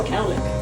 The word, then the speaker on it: cowlick: So Bobby's hair, he only has 1 colic here in the back. So I blend his hair to his colic. That's what that's called, right? Colic. So It's a cowlick.